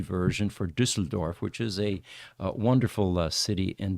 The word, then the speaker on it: Düsseldorf: Greetings from Düsseldorf. And that is a U with an umlaut at the top. That's why it's Ü.